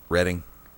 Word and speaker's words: Reading: Are you sure it's not pronounced reading? Reading.